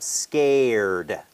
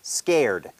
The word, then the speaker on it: scared: ครับ scared นะ ครับ ช้า ๆ ก็ คือ อ่า ประมาณ ว่า ซอโซ่ ก ก ไก่ สระ เอ SK สก นะ ครับ สก แล้ว ก็ ตาม ด้วย เอ SC แล้ว ก็ อ่า ตัว สะกด ก็ คือ ด เด็ก หรือ ดี นะ ครับ scared scared scared นะ ครับ ซึ่ง ถ้า ไม่ ได้ เติม ดี ตอน ตอน ท้าย นะ ครับ ไม่ ได้ แปล ว่า กลัว นะ ครับ แปล ว่า